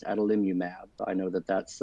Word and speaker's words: adalimumab: But I have heard it pronounced adalimumab.